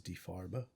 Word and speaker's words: Die Farbe: Farb or D Farber some pronounce it die far but I'm pretty sure the official German pronunciation is D far bow or the color and